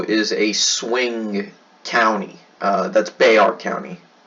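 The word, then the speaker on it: Bexar: because San Antonio is a swing County that's Bay our County it's not pronounced effects are its Browns bear they are bear but it's a at least it used to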